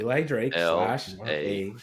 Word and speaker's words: Eli Drake: it you said it you said it right Eli Drake night so this man had Percy Pringle Paul